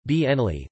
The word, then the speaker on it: Bernoulli: Daniel Bernoulli FRS German pronunciation, Bernoulli, the 8th of February 1700 to the 17th